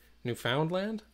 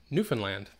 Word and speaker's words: Newfoundland: located in Newfoundland Canada a lot of people pronounce it Newfoundland nope I mean that's how it looks because it's Newfoundland but we pronounce it Newfoundland and that is on an island in the